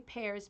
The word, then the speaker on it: Pairaz: So Prickly Pears, P-A-I-R-A-Z, and they're in Arizona.